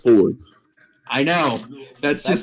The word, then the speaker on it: Fjord: Like, But it's spelled Fjord. But it's Yeah. pronounced Ford.